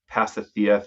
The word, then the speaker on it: Pasithea: Marques, you are running a pretty interesting ketamine business in Florida, Pasithea Therapeutics. Did I pronounce it right?